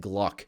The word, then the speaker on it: GLVK: glvk we're pronouncing it Gluck the Glock index you pronounce the v as a u it didn't work perfectly